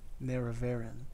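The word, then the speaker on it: Nerevarine: Neravine. That's how you pronounce it.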